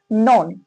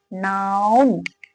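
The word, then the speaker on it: noun: इसे बहुत सारे ऐसे व्यक्ति होते हैं, इसे इस तरह से प्रोनाउंसिएशन करते हैं, नॉन। इसे बहुत सारे व्यक्ति किसे कहते हैं, नॉन, बट नॉन नहीं है, ये क्या है, नाउन।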